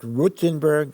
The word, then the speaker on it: Rothenburg: Rothenburg is a city in Germany. In Hebrew, we pronounce it Rutenburg.